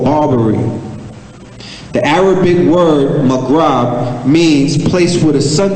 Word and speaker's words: Maghreb: Now, the area that I'm about to speak about is called the Maghreb. It's spelled M-A-G-H-R-E-B, or other people spell it in M-A-G-H-R-I-B, okay? And the Maghreb or Maghreb is the name given in pre-modern